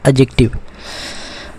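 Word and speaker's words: adjective: इसको हम कैसे प्रोनाउंस करते हैं, डी साइलेंट है, यहाँ क्या बोलते हैं, एडजेक्टिव।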